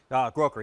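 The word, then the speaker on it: Grokker: This is pronounced Groker? Groker, yeah.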